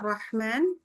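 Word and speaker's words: الرحمن: Bismillahirrahman rahman sampai dari hnya dari roh sampai ke ma disebut membaca ma maka ha itu tetap kedengaran suaranya keluar udaranya ya jadi bismillahirah enggak boleh bismillahirrahman putus suaranya udaranya ya lain kali buat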